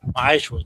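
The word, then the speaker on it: מעשר: It's 10th in the Hebrew, and it's pronounced Ma'ashra, 10% of every penny of any increase the Most High gives you.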